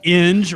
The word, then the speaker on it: Inge: Her name is Christina Inge, rhymes with fringe.